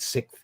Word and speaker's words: sixth: we using Sixth Sense I've never pronounced the X correctly in sixth I've always said sixth my dad always used a share to me for that I think that's a British thing though sixth it's like